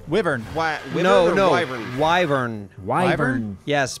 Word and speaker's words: wyvern: So Thick, did you say you saw a dragon or they're actually called wyverns. Wyvern. Wyvern. Wyvern. Wyvern. Yes, pronounced wyvern.